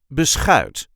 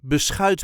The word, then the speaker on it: beschuit: We will also see how to pronounce beschuit met muisjes later in the video. This is how we say beschuit. Beschuit. There is a light emphasis on the last part of the word.